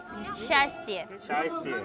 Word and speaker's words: счастье: 뭐라고 읽어요? счастье.